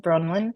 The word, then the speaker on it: Bronwen: the US for example so I'm going to spell it for you it's b r o n Wen bronin so raiki with bronin I've got um I've